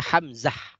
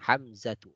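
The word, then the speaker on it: حمزة: Kita tahu kalau tak marbutah ini diwakafkan, dia bisa dibaca ha. Ya, jadi bisa kita baca Hamzah, Talhah, Usamah, Muawiyah, Ikrimah. Ya, kalau dia wakaf. Ya. Tapi kalau tidak wakaf ya kita baca taknya Hamzatu, Talhatu, Usamatu, Muawiyatu, Ikrimatu.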